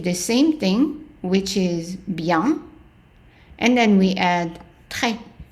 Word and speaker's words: bien: The I becomes a Y, y, and then the EN becomes ya, bien. Now, if we want to say very good, we take the same thing, which is bien, and then we add très, très.